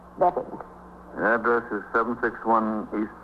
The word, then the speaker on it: Bevan: I spell it B-E-A-V-A-N, but I pronounce it Bevan.